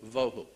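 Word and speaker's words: בֹהוּ: Vohu would be V-O-E W-H-O, tohu, vohu, waste, desolation.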